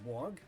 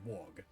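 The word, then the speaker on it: Waugh: James Wog, a writer in Blizzard's creative development department, by the way, to avoid further confusion, that last name is written as W-A-U-G-H, but I will still pronounce it as Wog, pitched that they'd make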